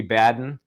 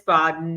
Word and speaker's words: Baden: Purposeful to mispronounce. So if I were to call you Linda Kenny Baden that and I would just say to you I'd say it's Boden or it's Kenny or you forget the Kenny